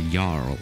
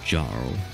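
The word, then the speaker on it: jarl: jarvik's own jarvik zone like with the j because you know english but it's a yarl not jar right so it's jarvik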